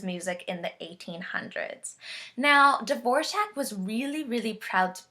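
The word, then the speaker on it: Dvořák: Dvorak. Very good. There's kind of a mysterious J in there somewhere.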